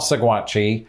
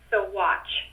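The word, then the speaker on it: Saguache: it sounds so weird not saguachi cigwatch i doubt the the last part is actually pronounced but maybe it is i don't know segwatch i'll go with sugwatch we pronounced it so watch usually did did she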